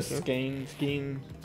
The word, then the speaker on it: skein: The skein. Yeah. It rhymes with Bane. Skein rhymes with Bane.